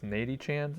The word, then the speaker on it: Nady-chan: wouldn't have to remember, how do you say this? Nady-chan? N-A-D-Y Chan? Natty-chan? Natty-chan, yeah.